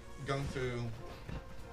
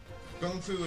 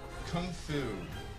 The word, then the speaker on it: gongfu: and growing and um gongfu gongfu is is a it's a better it's the more appropriate and i'm still pronouncing it badly so any any mandarin speakers are going to be like well he's he says white devil um can't speak chinese speak mandarin but kung fu as it's called in